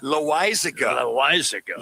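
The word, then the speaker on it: Loáisiga: And then Losagia, how do you say that? How do you say his last name, Laz? Jonathan Loaizaga. Loaizaga.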